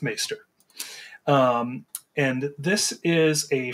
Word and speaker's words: Maester: called maester I believe as some may pronounce that maester M Master uh I'm gonna I'm gonna go with maester um and this is